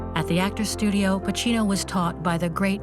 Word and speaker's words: Pacino: for the first time someone pronounced my name right they always used to say bikini or Pacino he said Pacino and I thought okay